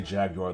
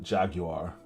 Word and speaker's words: Jaguar: I try to say Jaguar the proper way, not Jaguar the way that Americans say it, Jaguar.